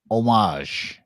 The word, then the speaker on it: homage: is you do not the H is silent omage yes godam I speak